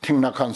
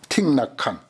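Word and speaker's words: Thích Nhất Hạnh: 그러니까 우리나라의 아잔 브라움 같은 스님이라든지 지금 틱낙한 스님 그런 이들이 와서 그냥 이 훌륭한 불법의 토양에 와가지고 그 사람들이 설치잖아요.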